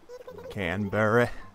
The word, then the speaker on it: Canberra: fond farewell to our dear friend can bury Canberra that's how you pronounce it it's hard to say goodbye but